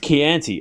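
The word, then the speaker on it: Chianti: Oh, it's pronounced Keianti.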